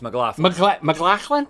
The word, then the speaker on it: McLaughlin: It's McLaughlin.